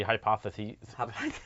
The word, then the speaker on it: hypotheses: Yeah, no, it's unless it was multiple, then it would be hypotheses.